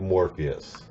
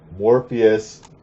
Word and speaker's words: Morpheus: the first appearance of Morpheus. Okay? Not Morbius, the vampire guy. That's a different character. Morpheus, pronounced like the guy from The Matrix.